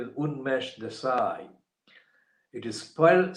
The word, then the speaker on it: Unmesh: the gla for tower humblers his name is unmesh desai it is spelled on mesh this i u n m